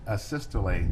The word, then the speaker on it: asystole: and have you explained to the jury uh a systole i think is called um am i pronouncing that right by the way asystole yes